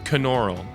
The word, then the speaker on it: Knoerl: slash VIP slash Caan aural you pronounce the K in my last name so don't forget that